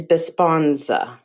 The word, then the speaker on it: Besponsa: name for this one the brand name is bisponza how do you spell that b e s p o n s a besponsa yeah i would probably go with the